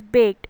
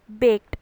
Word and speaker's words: baked: English language learner will pronounce the word baked as baked because it ends in the letter E, but that is not correct. We will pronounce it as baked because it ends in the sound K.